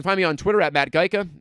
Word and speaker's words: Gajtka: right you pronounce it geica though like geico i suppose but with an a at the end sweeps mccool on twitter